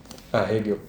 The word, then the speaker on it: Hegel: O amor, como absoluto, como se escreve, como você fala? Hegel? Hegel.